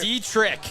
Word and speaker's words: Dietrich: Okay, how do you pronounce his name? Dietrich. Dietrich. Dietrich.